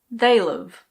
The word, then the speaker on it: they'll've: They will have becomes they'll've. They'll've.